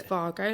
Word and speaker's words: Wago: is it vargo vargo wago because it's a german company it's fargo like volkswagen so they pronounce their v's and their w's differently sorry so it is